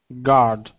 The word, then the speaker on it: guard: check out some words first up is guard instead of guard guard the U is silent guard good all right let's